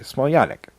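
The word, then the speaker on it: Smiljanić: Yeah, because you don't pronounce the J. Smiljanic.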